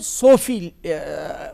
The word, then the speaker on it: صوفی: اب کشمیری میں جو لہجہ ہے, کشمیری جو تلفظ ہے, اس میں صوفی نکلتا ہے. لیکن ایکچولی اردو یا پرشین میں صوفی ہے, یہ صوفی ہے پیش سے ہے.